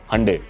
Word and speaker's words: Hyundai: हंडे इज़ the right pronunciation. India में लोग इसको हिंडाई बोलते हैं, बट हंडे इसको जनरली कहा जाता है।